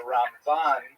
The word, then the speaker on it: Ramban: Typically um and especially inkazim you can sort of distinguish the difference because we say ramban uh with the accent on the last syllable and rambom the accent on the first syllable.